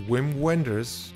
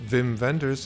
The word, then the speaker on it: Wim Wenders: you can hi this is whim Wenders correctly pronounced vim venders and you're listening to